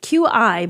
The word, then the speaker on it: Qi: You like the you like Qi QI, but it's pronounced Qi.